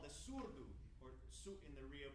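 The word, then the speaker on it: surdo: yes so we're approximating this instrument called the surbhu or suit in the Rio pronunciation s-u-r-d-o which in Portuguese means uh as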